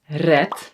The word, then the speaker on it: red: And then e, pet, peet, red, reed. When a word ends on a D, we pronounce it as a T, by the way.